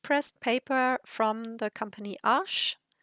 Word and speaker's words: Arches: I know in English most people pronounce it Arches, but it is a French company, and I have looked it up because I was interested in how it is pronounced correctly, and the correct pronunciation is Arche.